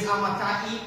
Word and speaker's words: Amittai: We always, most people pronounce it Amittai, but in the Hebrew is Amittai.